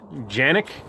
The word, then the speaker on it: Canik: move and he's opening the canic or janic as they pronounce it in Turkey tp9 sa single action